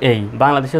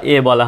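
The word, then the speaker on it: able: এই শব্দটাকে বলি এবল। সঠিক উচ্চারণ কিন্তু এই বল।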